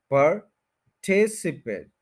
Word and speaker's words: पार्टिसिपेट: पार्टिसिपेट पार्टिसिपेट पार्टिसिपेट पार्टिसिपेट तो पार्टिसिपेट जब बोलेंगे तो टी आई एस पर स्ट्रेस नहीं हो रहा स्ट्रेस यहां पर रहेगा पार्टिसिपेट इसके बाद शवास साउंड है जो कि है अ पटस पेट पार्टिसिपेट तो यह फोर सिलेबल सेकंड के ऊपर स्ट्रेस है जिन लोगों को इनका